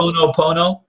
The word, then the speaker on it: Ho'oponopono: I don't know how to pronounce it. This thing that you were talking about in the past. Ho'oponopono?